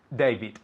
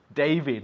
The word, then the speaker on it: David: David. David, not David. David. The D is pronounced with the tongue up. Okay. Yeah, pointing upwards. D. It's casi como un T, yeah?